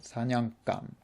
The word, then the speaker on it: 사냥감: And here as well, be careful of the pronunciation because it's spelled 사냥감, but just like 장난감, it's pronounced with a hard G, so 사냥감.